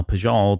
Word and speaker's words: Pijal: They pronounced it as Pijal, but it also depended if you had an English or something near akin to that, they would pronounce it a bit more like what you just did. But Pijal was kind of the basic one.